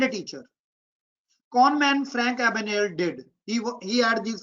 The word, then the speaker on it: Abagnale: Catch me if you can, the Frank Abagnale. G is silent, Sakan. Don't read G. Abagnale story.